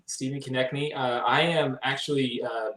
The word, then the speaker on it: Konecni: it's connected actually stephen connectny i would have never gotten that but can you introduce yourself and tell us how to pronounce it yeah it's uh like connecting the knee stephen connect me uh i am actually